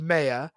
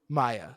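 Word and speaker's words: Maia: Wave It's pronounced Maya mayia sorry but in the in the film they said Maya I just want to point out I'm I'm being film accurate right now sure but it's pronounced Maya we know this but I'm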